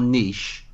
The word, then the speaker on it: niche: And what you said there about our terminology is the narrower your niche, the broader your appeal. Yeah. And you've kind of, and I know you guys pronounce it incorrectly, but the correct word, by the way, is niche.